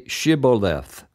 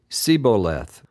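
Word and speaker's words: shibboleth: said no they would tell him to say shiboleth but he would say sioth because he could not pronounce it correctly then they would grab him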